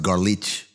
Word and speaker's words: Golic: First of all, it's pronounced garlich. It's Eastern European. Well, that's the Golics. They're Golich, yeah.